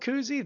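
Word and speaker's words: Kuhse: not spelled like Bob Koozie this guy's name is spelled k u HS e but you know watching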